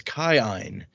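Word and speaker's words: Kiin: double I which is pronounced according to the pronunciation key as I I. So his name is Kine. Well that's not confusing at all. Yeah I'm just going to say Keen is how I say it too.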